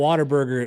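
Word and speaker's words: Whataburger: I feel like if you call it Waterburger, it feels like you've been there before.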